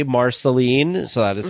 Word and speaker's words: Marceline: was the first person that we heard say Marceline so that is how it is pronounced down there this gentleman was wonderful he